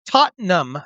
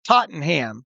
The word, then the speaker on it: Tottenham: When you're talking about the London games, it's pronounced Tottenham Stadium, despite the rules of the English language suggesting it should be pronounced Tottenham."